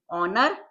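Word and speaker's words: honour: के बाद, role of ऑनर, एच हमारा साइलेंट है, अवॉइड करेंगे, ऑनर, एन के इनिशियल में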